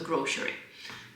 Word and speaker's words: grocery: I have said with a sh word, so grocery. But then, grocery. I don't know.